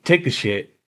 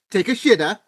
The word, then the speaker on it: Takeshita: So, yeah, AEW's own Take a Shit is in first place. Say it right. Take a shitta. Take a shitta. There we go.